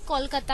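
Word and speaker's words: Kolkata: सही प्रोनाउंसिएशन अगर हम अगर देखा जाए तो कोलकाता ही बोलते हैं.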